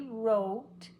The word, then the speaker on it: wrote: will work well together sometimes it's silent he wrote it the wrong way he had a wreck so sad he had a wreck in his car he wrote he wrote see it's an R but not a w even though my lips look like they're pulling in I'm only setting up for the r he wrote it the wrong way so the W is silent I didn't go woo